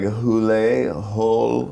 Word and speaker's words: Hole: character's name is Harry Hole. And you know, I guess you don't want to go into the Harry Hole. you want to, so they're trying to repronounce it like Hule, hole.